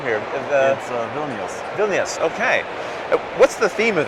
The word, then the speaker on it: Vilnius: a cooperative game for we play how you pronounce his name here in Vilnius Vilnius okay what's the theme of the game well